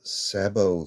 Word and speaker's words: sabot: rifle slugs or or sabbat slugs? So, and now we have sabbat similar to rabbit. Premier Acutip bonded sabo slugs.